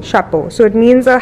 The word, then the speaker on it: Chapeau: I don't want to butcher the name. It's boat. It's boat. Chapeau. Chapeau.